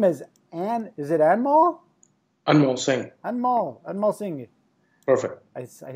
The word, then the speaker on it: Anmol Singh: Anmol Singh. Perfect. I pronounced it proper, didn't I?